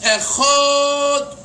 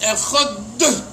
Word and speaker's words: Echad: So how do you say Echad? The ches is Echad. That's wrong, not the ches. The dalit is Echad. Echad.